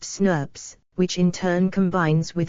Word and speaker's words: snRNP: Small nuclear RNA, snRNA, molecules bind to specific proteins to form a small nuclear ribonucleoprotein complex, snRNP, pronounced SNRPs, which in turn combines with other snRNPs to form a large ribonucleoprotein complex called a spliceosome.